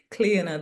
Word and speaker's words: Clíona: English people because the way English people pronounce makes it awkward, but it's Gaelic, so it's Cleona.